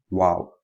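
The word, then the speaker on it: واو: Then we have this called wow. Wow is pronounced by making the two lips come together in a circular form without them meeting completely.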